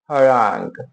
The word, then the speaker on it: harangue: एन जी ग हरांग हरांग हरांग हरांग हरांग। ठीक है? हरांग। ठीक है?